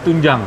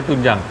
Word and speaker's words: tunjang: makan aja Ampera ini namanya tunjam ya bacanya tunjang lain kalau bahasa sini